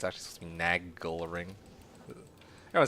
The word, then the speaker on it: Nagel: So like nagle, not nagel. I call it like nagel ring, but it's actually supposed to be nagal ring.